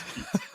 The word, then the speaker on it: Vite: No, it's Veet. Okay, Veet it is. Sure, you can join, but you have to learn how to say it right first. That's right. There's actually a meme with a lady saying Veet on Twitter. Okay. Yeah, it's a good one. Nice. But yes, that's how we pronounce it. It means fast in French.